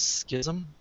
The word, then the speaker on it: schism: August 11th Civil War Schism in case you don't know how to pronounce that word it's Schism might rhyme with something um we'll have some